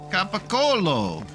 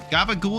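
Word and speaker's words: capocollo: Fun part is in Italian it's Capacolo. Gaba ghoul is the simplified Italian American version, but it's definitely better.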